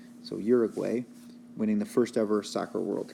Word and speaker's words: Uruguay: which country that is so that is Uruguay or pronounced Budig why more locally there they won the